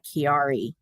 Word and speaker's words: Chiari: I have a rare condition health condition called Chiari and for those who are not familiar with it it's spelled c-h-i-a-r-i Chiari malformation and it didn't um